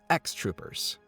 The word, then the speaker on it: EX Troopers: the spin-off ex troopers or pronounced in japanese as x-troopers the game released in